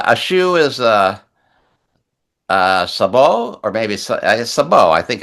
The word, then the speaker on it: sabot: Uh, a shoe is a uh sabo or maybe sabot. I think it's sabot sa b o t, but you don't pronounce the t.